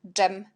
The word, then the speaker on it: dżem: Et jet, dż, jak dżem, dżem.